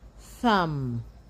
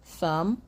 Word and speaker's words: thumb: You do not pronounce the B. The B becomes silent. So, you have climb, bomb, thumb, dumb, comb, lamb, numb, and crumb.